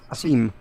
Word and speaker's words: Sym: Sym? S-Y-M? Seam? Is that what that is? Seam. Will's got the pronunciation down.